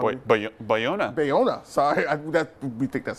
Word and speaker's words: Bayona: Bayona, is that how Bayona. Bayona, sorry, we think that's how you pronounce it, will direct Jurassic World 2.